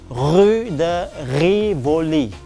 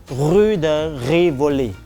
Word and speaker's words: Rue de Rivoli: So the R in French is pronounced as R. Okay, R. So ladies, if you want to go to this shopping street called it is read in French as Rue de Rivoli.